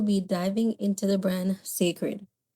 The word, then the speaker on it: Cecred: So, today we'll be diving into the brand Sacred. Sacred spelled C E C R E D but pronounced Sacred is a brand created by the American singer, songwriter, and businesswoman Beyonce.